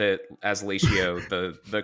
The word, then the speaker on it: Latio: It's ratio with an L, Latio. But where did that name come from? I know it's a bad name because no one has said it as Latio the correctly the first time.